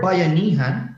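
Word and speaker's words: bayanihan: our country the Philippines the word bayanan is pronounced like bayanan I hope you could pronounce it well bayanan is a Filipino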